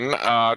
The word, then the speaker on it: Wano: It's pronounced Oceanassi. Moving on. Wano, Trailers.